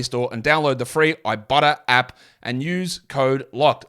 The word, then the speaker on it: Ibotta: you can do it if you got the Ibotta app and you get cash back.